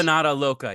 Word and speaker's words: Empanada Loca: How do you pronounce that, Aaron? Empanada Loca? Squeamish? Oh, Empanada Loca.